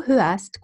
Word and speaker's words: hörst: Du hörst gut zu. I don't pronounce the R.